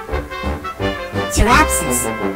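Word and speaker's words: Pteraspis: Terapsis, the P is silent, was an armor-plated fish called a placoderm, which means plated skin, about 6 inches long.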